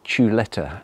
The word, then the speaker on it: chuleta: them I'm going to cook today, and it's pronounced chuleta, and it's a bone-in sirloin.